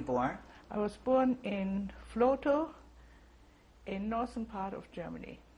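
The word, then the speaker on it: Vlotho: I was born in Flotow, in northern part of Germany. Can you spell that, please?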